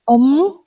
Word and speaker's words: Om: And if somebody had to pronounce his name, they rounded the lips to pronounce O as a sun around a circle, and then there was Om as a crescent.